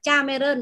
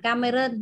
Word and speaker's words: Cameron: Ví dụ như là danh từ riêng thì chúng ta không chuyển các bạn nhé. Danh từ riêng thì chúng ta không đọc là Cameron mà chúng ta đọc là Cameron nhé.